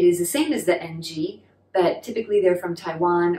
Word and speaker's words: Ng: to pronounce that well in cantonese it's the low-rising that unvoiced kind of nasally okay so is the surname ng and it has a